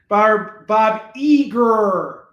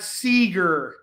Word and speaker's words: Eager: Bob Eager, not Seeger. It's a silent S in front of his name.